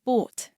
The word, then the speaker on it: bought: This sounds like or and rhymes with court. Common words include bought, brought, fought, ought, sought, thought, and wrought.